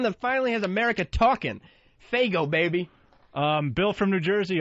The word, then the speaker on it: Faygo: Faygo is how it's pronounced.